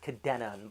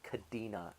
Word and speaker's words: Kadena: Kadena Air Force Base Kadena by the way not Kadena look at the way it's spelled there's no eyes no I in it it's not spelled CA di na um we are seeing